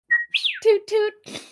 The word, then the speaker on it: Two Whistle: Everybody will remember the many exploits of Ket Two Whistle, or as she pronounces the last name, Toot toot.